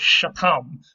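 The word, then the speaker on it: शतम्: we have written down, it's Shatam with the accent on the second syllable, which is where we expected.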